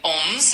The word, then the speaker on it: onze: 11, Onze, and it's spelled O-N-Z-E.